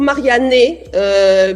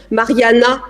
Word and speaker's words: Marianne: Alors je leur prononce toujours Marianne, puisque le E se prononce E, parce qu'autrement c'est la catastrophe. Mais en fait, Mariana existe en italien, donc je me transforme souvent en Mariana.